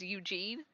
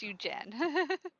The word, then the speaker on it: Eugen: No, because when you told me it was Eugene and now it's Eugen. Yeah, because his name is Eugen because I forgot to eat.